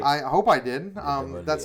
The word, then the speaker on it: Nidavellir: number 6 for me is Nidavellir, which is Hey, you pronounced it right. I hope I did. Nidavellir.